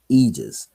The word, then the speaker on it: aegis: under the aegis of universal laws what is aegis spelled a-e-g-i-s it's a latin word for wings